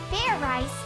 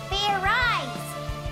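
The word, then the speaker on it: Fairize: idiot like i said it's not fair rice it's fair eyes do it again and this time make sure you pronounce the z let's do this okay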